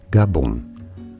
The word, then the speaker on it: Gabon: say it for reference in French the official language of the country it is said as gabon gabon in English though this